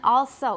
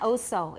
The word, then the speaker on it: also: things first about pronunciation also it's not oso it's all all everybody also good also next we're